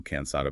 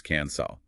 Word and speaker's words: cansado: They might also drop the day between vowels, so cansado becomes cansao.